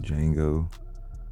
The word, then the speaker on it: Django: and this tweet from django the t is silent day one on game